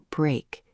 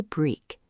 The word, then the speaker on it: break: Look at the word break. It rhymes with cake and lake. Don't say break. It is break.